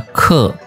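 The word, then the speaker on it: 刻: Kemudian kalau kita tambahkan huruf hai di kiri, kemudian kita pakai yang Li Tao Pang tadi yang bentuknya seperti ini, maka bacanya adalah ke.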